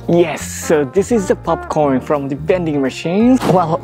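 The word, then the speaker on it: ポップコーン: By the way, popcorn in Japanese is popcorn. Popcorn. Yes, the word is coming from the English, so that's why we have a pretty similar pronunciation. Speaking of the popcorn, it is really popular in Japan.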